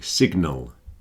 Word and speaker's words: sign: You don't hear the G in sign. So this hand is signing a signature. Signal and signature, you can hear the G, but sign, you do not hear the G.